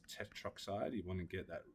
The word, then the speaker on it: tetroxide: A little subtle thing is if you get an A and an O and stuff, you generally just drop the A. So it's tetroxide.